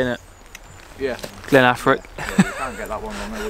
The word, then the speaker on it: Glen Affric: Welcome to Glen Affric. I'm pretty sure I've pronounced that right. That's an easy one to say, isn't it? Yeah. Glen Affric.